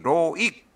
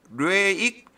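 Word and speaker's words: Loïc: 네살 밑에 동생의 명식 로익 로익이 로익이 프랑스는 위에 뭐 알파베트 점이 있어 가지고 발음이 좀 그렇습니다 로익 아니고 로익 뭐 이렇게 발음하는 모양입니다 기해 을해 정사 갑진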